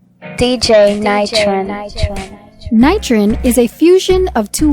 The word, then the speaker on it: Knightrin: you pronounce it and i said nitron she said correct i was excited i